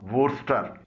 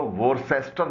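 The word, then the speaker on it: Worcester: England के 2 शहर हैं, लीस्टर और वुर्स्टर, इसको लीसेस्टर नहीं पढ़ा जाता बल्कि लीस्टर पढ़ा जाता है। वोर्स्टर में भी सी साइलेंट है, इसको वोर्सेस्टर नहीं पढ़ा जाता।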